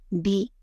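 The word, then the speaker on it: two: த்வியிலுள்ள இத், அதாவது டி என்பதே டூவில் இட், டி என்று ஆகிவிட்டது. உச்சரிப்பில் டூ என்று சொன்னாலும் ஸ்பெல்லிங்கில் டீக்கு அப்புறம் டபிள்யூ வருகிறது.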